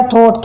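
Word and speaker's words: thought: और ऐसे हो गया थॉट, थॉट यानी सोचना, THO UGST, थॉट यानी सोचना।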